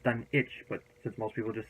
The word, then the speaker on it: Dunwich: my research it's actually supposed to be call pronounced done each day like Greenwich you don't say Greg which we say Greenwich so it's done each but as most people just sit down with